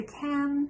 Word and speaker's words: can: If you're saying can, you're going to pronounce the can similar to man, can, man.